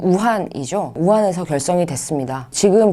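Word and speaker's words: 武汉: 조선의용대는 1938년 10월 10일 중국 무한, 중국 발음으로는 우한이죠.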